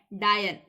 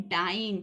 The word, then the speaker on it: dyne: डायन, सॉरी डायन नहीं, इसको हम कहते हैं डाइन, ठीक है। गलती मत कर देना, ठीक है। बोल सकते हो वैसे, डायन बोलना है तो डायन बोल सकते हो, लेकिन स्पेलिंग याद रखना, DYNE, ये होता है डाइन।